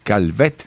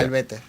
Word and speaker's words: Calvette: Y me acompaña Ali García Calvet, ¿se pronuncia? Calvete.